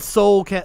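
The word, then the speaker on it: Seoul: kept trying to say I should have just said Soul South Korea last night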